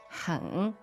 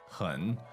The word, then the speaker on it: 很: 很 H-E-N, third tone. 很.